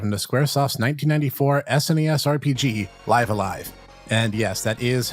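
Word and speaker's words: Live A Live: taking a dive into squaresoft's 1994 snes rpg live alive and yes that is how it's pronounced and my kanji reading friend lona ranger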